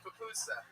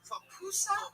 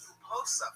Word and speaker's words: pupusa: Is it pronounced pupusa? Pupusas. I always thought it was puposa for some Oh, reason.